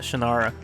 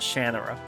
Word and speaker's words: Shannara: uh all the words I've always called it the sword of oh man the sword of shanara I think that's what I've called it shanara but in in in the books they they they pronounce in the audio books they pronounce it shanur I think that's it and I'm like I don't like that so I'm going to not say it that way it's shanara even if